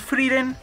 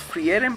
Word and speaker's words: Frieren: iré completando aquí tenemos freren tomo 6 que siempre le dije o le dijimos frieren porque pues así se pronuncia hasta que salió el anime y vimos que pues no era así igual voy atrasado con